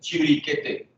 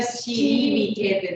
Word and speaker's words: Chiribiquete: Le lieu s'appelle Chiriquete. Ça s'écrit comment? C-H-I-B-I. Non, quoi? Non, Chiribiquete. Donc, c'est C-H-I-R-I-B-I-Quete. Q-U-E-T-E. Chiribet, c'est ça?